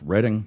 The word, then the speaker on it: Reading: reading is reading a book but it's actually pronounced reading I think it's British actually because there's a